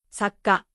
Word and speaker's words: さっか: Saka, saka. In the first one, the sounds flow smoothly. In the second one, there is a pause before the ka.